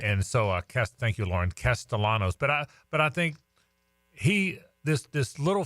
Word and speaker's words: Castellanos: It's Castellanos. She's like the pronunciation czar. That's right. And so, thank you, Lauren. Castellanos.